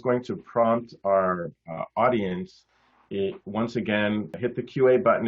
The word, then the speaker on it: ONCE: There's an organization there called I call it once, but apparently in Spain it's pronounced once.